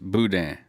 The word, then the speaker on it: boudin: It's spelled like this. Pronounced boudin. It's the that is important. Boo is easy to say. Is easy to say, I think. May not be easy. But then there's the D in the middle.